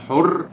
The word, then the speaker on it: حورس: الاصلي اوريدي كان ايه زي حورس اظن نطقه الاصلي حر فننطق الكلمه دي لحد